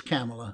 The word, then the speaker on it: Kamala: harris yes it's kamala camel like pamela but it's camella yeah yeah yeah now